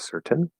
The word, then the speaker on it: certain: it comes out certain, sometimes it comes out certain, more commonly certain, but that full pronunciation of the T is always possible. Okay, just don't stress it too much here because it's not supposed to be a really strong T.